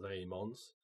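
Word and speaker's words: Dæmons: managed to make towards Doctors and Demons, or Daemons, if you want to use the correct pronunciation.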